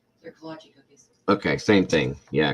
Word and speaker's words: kolache: Kolache. Yes. Is that how it's spelled? I never knew that. And that's what it's called. Kolache.